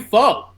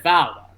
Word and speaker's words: faux: You faux. It is. FAUX is pronounced faux. Oh, I'm pronouncing it foul.